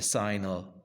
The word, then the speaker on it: sine: a degree so the sign which is written as Sin but pronounced with a signal silent e at the end sign okay the sign of